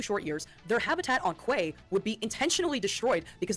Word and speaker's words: qa: spelled QA, but apparently the accepted pronunciation is Quay.